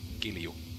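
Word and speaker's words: kilju: That sounds like kill you. Hold on, let me try to go to Finnish brain. Kill you. Yeah, that's how you pronounce it.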